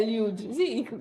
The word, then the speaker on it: Eliud: They call it Eliud. Eliud. Eliud. His name, I got that pronunciation from there.